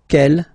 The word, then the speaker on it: quel: Quelle, masculine form here, will be pronounced exactly as the feminine form here.